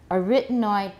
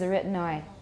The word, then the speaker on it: arytenoid: in many inc and what i've heard is a retinoid a retinoid that sounds i've never ever heard that before um what kind of